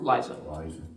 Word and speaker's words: Liza: Is it Lisa or Liza? Liza.